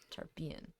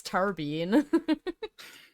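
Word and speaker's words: Tarbean: that's an interesting pronunciation tarpian man you guys are wrong clearly it's tarbine hmm obviously duh dove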